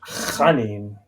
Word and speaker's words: Michael Janin: And then Michael Janin, is that how you pronounce his name, right? Chanin, like Hanukkah.